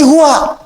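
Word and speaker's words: هو: Hu itu singkatan dari huwa. Singkatan dari huwa, hu disingkat huwa. Kalau Anda wakaf membaca kalimat bahkan dalam bahasa Arab, apalagi Al-Quran, berhenti pada kalimat huwa, maka huwanya nggak bunyi, bacanya hu, huwanya nggak bunyi.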